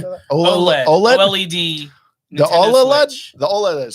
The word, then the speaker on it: OLED: OLED.